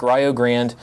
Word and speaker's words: Rio Grande: it is Point Park Rio Grande yes it is pronounced Ryo don't ask me why IU East Carlo and